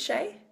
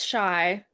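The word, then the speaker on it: Shai: And And is your name pronounced as Shay? It's Shy.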